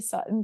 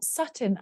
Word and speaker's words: Sutton: None of them actually pronounce the T's.